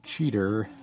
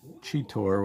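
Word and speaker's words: Cheetor: didn't remember that they called him cheater as opposed to chitor which i kind of always thought was how you pronounced it but um yeah it's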